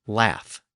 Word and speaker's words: laugh: But again, the pronunciation at the end later changed to an F sound, and we got the modern English laugh, L-A-U-G-H.